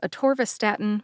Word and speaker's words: atorvastatin: pronunciation of atorvastatin first a tvist Statin has five syllables uh which is a short a sound like the a in adoption tore like my son tore the wrapping paper off his birthday gifts last weekend V like Velociraptor stat like I need to get away from